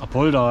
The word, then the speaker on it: Apolda: Wie spricht man das aus? Apolda, ja.